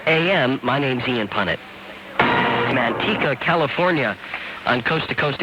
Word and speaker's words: Manteca: Manteca, California on Coast to Coast AM. Am I pronouncing that right, Randall? Perfect. Manteca. Yeah, that's it.